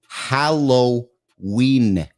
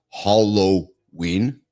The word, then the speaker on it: Halloween: Look at the spelling. Halloween, not Hollow-een.